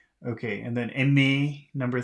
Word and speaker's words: aimer: And then number 3, more than one syllable, ending in R, ER, so that should be aimer. No R pronunciation there.